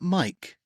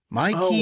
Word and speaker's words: Mikey: name pronunciation for him his first name's not Mike it's Mikey Mikey s still it is Mikey yes it is Mikey I did not know that I've been calling him Mike um undersized lack height